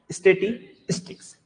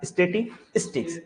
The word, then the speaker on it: statistics: स्टैटिस्टिक्स कभी हम state बोल देते हैं, है ना, होता है, मेरे साथ भी होता था। तो याद रखते हैं ये क्या है, स्टैटिस्टिक्स। क्या है, स्टैटिस्टिक्स। पहले स्टेटी है फिर स्टिक है।